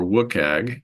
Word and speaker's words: WCAG: There's also the Web Content Accessibility Guidelines, or WCAG, as we pronounce it.